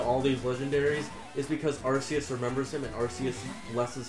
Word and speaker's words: Arceus: Well, I pronounce it Arceus. Yeah, you can pronounce it Arceus. I call it Arceus because that's what they called him in the movie.